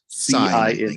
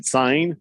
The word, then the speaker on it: Cine: Cine. Cine.